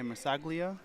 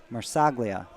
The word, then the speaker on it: Marsaglia: Yeah, Marsaglia. Marsaglia. I had my emphasis on the wrong syllable.